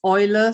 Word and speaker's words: Eule: Now, Eule in German is pronounced Eule. Sometimes people say, you're pronouncing this wrong. But I prefer the English pronunciation, actually. I like Eule Planner, so I don't like Eule Planner.